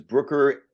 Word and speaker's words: Brucker: believe the pronunciation is Brooker and April has a little tip she said to help me remember it uh what is that tip the tip is um it rhymes with hooker and back in the